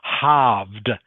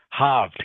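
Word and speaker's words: halved: okay in this word haved haved can you say that please when hav haved good haved so the L is silent everyone no need to pronounce the L to silent so something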